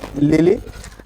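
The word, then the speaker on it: Lyly: किड ठीक है and then John लिली Likee spelling है एल वाई एल वाई बट we read it as John लिली एंड a green has win told P Marlowe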